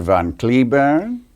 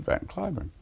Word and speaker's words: Cliburn: and she said Mr van curn and I thought yes welcome to Moscow so all the time I was there I never told him that in this country we pronounce it van kurn so I have two